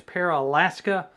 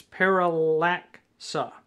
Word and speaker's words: Paralaksa: a k s a at first glance you think it's paraska but it's paraca or at least I hope it is but what it